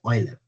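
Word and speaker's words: Euler: Okay, so the pronunciation of this name is Oiler.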